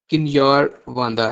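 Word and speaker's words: Kinyarwanda: English है, French है, Swahili है, और फोर्थ वन जो है वो किन्यार वांदा है, किन्यार वांदा, ठीक है।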